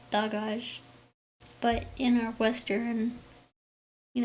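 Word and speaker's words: Dagaz: um it's really pronounced dogage but in our western you know pronounce it pronunciation i i tend to pronounce it dayage uh without that hard hard g uh so dayage is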